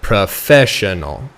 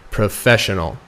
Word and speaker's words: professional: is going to be on the fair so professional professional and say that over and over again again until you get comfortable saying it professional okay now that we know how to pronounce